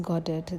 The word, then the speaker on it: Godot: He always pronounced Godet in the French manner with equal emphasis on the both syllables.